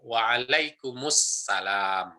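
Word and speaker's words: وعليكم السلام: Waalaikum assalam, tapi disambung waalaikumussalam gitu ya. Waalaikumussalam. Kan cara bacanya demikian. Waalaikumsalam. Jadi ada alif lamnya.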